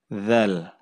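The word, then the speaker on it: ذال: Huruf dzal itu ujung lidah kita itu diletakkan di antara gigi atas dan gigi bawah. Kemudian diucapkan tanpa ada terdengar suara udara ya. Jadi ini juga jahar. Dzal ya, dzal.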